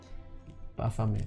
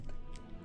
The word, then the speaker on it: Baphomet: Baphomet. Bafamet.